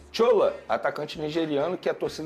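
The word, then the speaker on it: Shola: quem é o tchola é tchola mesmo que fala olha eu falo porque primeiro ele é nigeriano ele se a o nome dele é assim que se escreve sh o l a aí eu pronuncio dessa maneira é um atacante nigeriano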